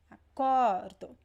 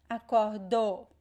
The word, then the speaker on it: acordo: See that when I say acordo, acordo, what is the stressed syllable? Pay attention to that. This is one big mistake that most students make. They stress the wrong syllable, so pay attention to that. Acordo. The stressed syllable is the second to last. It's not the last. It's not acordou. No, it's acordo.